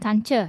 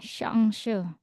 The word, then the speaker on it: Chance: nah Audia mungkin tahu ee enggak bacanya shangs When it the shangs hat W ISN Bandung ryen ya shangs karena ini diambil diserap ke bahasa Prancis Ya maka menjadi shangs enggak Chance ya Bole